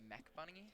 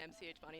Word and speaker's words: MCH Bunny: Usually people say Bunny or like Mitch Bunny, but How would you pronounce it? MCH it's Bunny? MCH Bunny because the MCH and MCH Bunny is my initials.